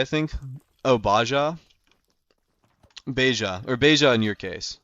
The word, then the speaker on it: Beja: I will go to Beja next. I'm assuming it's the Spanish pronunciation, like Baja, California.